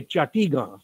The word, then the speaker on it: Chittagong: bengal but at at while at chittagong or as you say chatiga chatigar was the uh pronounced pronunciation there so while at chatiga